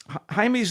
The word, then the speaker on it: Jaime: When young Jaime Reyes, we'll call him Jaime, let's get the pronunciation proper here. Jaime Reyes, it looks like Jamie, a Mexican-American teenager bonded